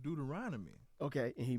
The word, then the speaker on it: Deuteronomy: It's pronounced Deuteronomy.